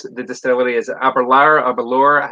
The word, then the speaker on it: Aberlour: Rhymes with sour. When we were doing we did not a tour, but we spent some time in the gift shop area there, and they were pronouncing it Aberlour the entire time.